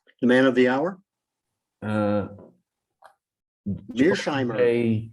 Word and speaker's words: Mearsheimer: Mice, how do I pronounce his name? The man of the hour? Mearsheimer. Mearsheimer, yes.